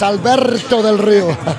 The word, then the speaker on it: Alberto Del Rio: Well, but you got to do it like Ricardo used to do it. You need to roll your R's, Alberto Del Rio.